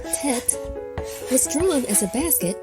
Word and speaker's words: Tet: I'll take 10. Our final letter for today, called tet, was drawn as a basket in both early and Middle Ancient Hebrew.